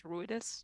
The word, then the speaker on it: Ruidus: Then Wilvin, in true reverence for that moment and kind of trying to give respect to Roidus. Is that how we're saying it? I think it's Ruidus. Ruidus? Ruidus, yeah.